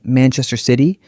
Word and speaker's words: Manchester City: you na man terai Manchester City stress on man and short weak syllables in between.